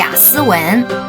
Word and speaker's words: Aswan: The Taiwanese traditional translation read in English should be 'Aswan'. Lao Gao not only pays special attention to this place , but also pronounces this place as Aswang.